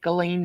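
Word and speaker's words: Ghislaine: it's true they're saying Barbara Walters was like galain Maxwell uh Oprah's like galain Maxwell and that's how you pronounce her name it's not I like the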